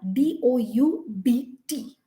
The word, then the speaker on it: doubt: u d doubt but the b over here is completely silent we never we don't sit down we don't see duct i don't know how to say it so doubt d-o-u-b-t but pronunciation is just d-o-u-t doubt similarly det d e